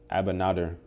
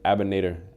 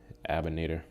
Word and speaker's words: Abinader: I got Abinader. Abinader. Right there. Abinader. I'm gonna just call him Abinader. He don't deserve to be pronounced correctly. Abinator.